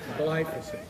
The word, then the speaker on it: glyphosate: glyphosate it doesn't quite I didn't say it right it's a gly word and it's important glyphosate glyphosate and it works